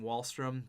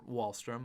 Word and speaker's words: Wahlstrom: so it's barzell bang wallström that is a nasty line Sorry Sorry Sorry it's barzell bang and then oliver Wahlstrom i knew i wasn't pronouncing it right we got Grayson Webb